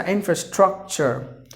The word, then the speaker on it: infrastructure: So infrastructure. So there are 4 syllables, you have to stress in the beginning. So infrastructure, infrastructure. And the 10th word is innovative.